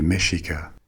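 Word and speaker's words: Mexica: Before they built an empire, these people were a nomadic group called the Meshika. It spells with an X like Mexico, but it is pronounced Mexico.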